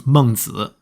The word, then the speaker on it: Mengzi: I actually don't know how to pronounce that name exactly in English. In Chinese, it's Mengzi.